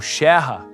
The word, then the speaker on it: Scherrer: Para muitos, assim como no caso de Emil Clement Scherer, ou Scherrer, como era a pronúncia correta, a reintegração da Alsácia como território alemão foi um sonho que durou pouco.